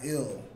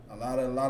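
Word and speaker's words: אל: It's not ill. A lot of people like to say ill, but it's Al. Because that pronunciation for that character, the I, it sounds like I. I'll. You understand? Yahweh Shamar I'll.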